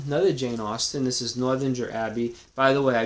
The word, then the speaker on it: Northanger: I'm not even going to repeat what I said, but I pronounce it like most people might pronounce it based on the words, based on the syllables. So it's Northanger.